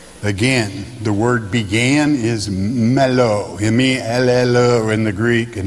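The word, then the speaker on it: μέλλω: The word in the Greek is mello, M-E-L-L-O, pronounced in the Greek tongue, mello.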